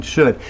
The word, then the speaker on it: should: So get rid of the L in could, get rid of the L in should, and it's especially important in would.